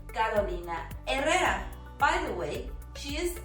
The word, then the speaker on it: Carolina Herrera: Another clothing brand often mispronounced as But remember, in Spanish, just like in the word Hotel, the H is silent, completely silent. And this is why we say Carolina Herrera.